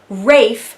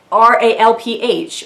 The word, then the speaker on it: Rafe: think that's a thing, and Rafe, spelled R-A-F-E, not R-A-L-P-H, which is how you spell that. And I think Tessa Dare was like afraid that her American readers would read that as Ralph, and she's like, Ralph